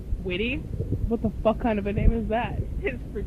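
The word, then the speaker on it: Witte: it's spelled W-I-T-T-E. But it's not wit, it's witty.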